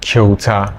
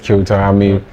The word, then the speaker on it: Kyauta: So how do you pronounce that one? Okay, my name is Kyauta.